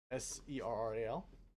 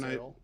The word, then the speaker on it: Serral: Not the way I would have pronounced the name in my head. Serral. I was think when Cyril.